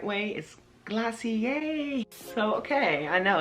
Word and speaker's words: Glossier: quick glossier pronunciation glossier the wrong way is glossier and the right way is glossier so okay i know